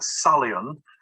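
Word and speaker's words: psalion: them these days is a salient with a silent p at the beginning which is a greek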